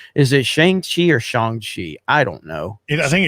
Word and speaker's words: Shang-Chi: weekend for uh is it shang chi or shang shi i don't know i think it's it's they say it's shang chi i've been saying that forever okay all right